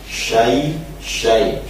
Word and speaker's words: syai: Cuman masih terdengar juga agak miring, terutama pengucapan syai. Syai. Ya mati maka harus meringis. Syai bukan syai tapi syai.